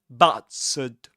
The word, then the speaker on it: battered: The vowel sound in the first syllable is the same as in cats. But bats. Bats. And the ending here is awah. That is to say, we say battered, battered, battered, battered.